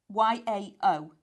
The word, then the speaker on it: Yao: Y A O.